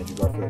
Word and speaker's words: Andrew Garfield: Andrew Garfield.